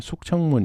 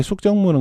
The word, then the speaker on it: 숙정문: 숙정문 이걸 정을 청이라고 읽기도 하고요. 숙청문 이렇게 이야기를 했다고 하는데 이게 숙정문은 거의 열어두지 않았다고 그래요.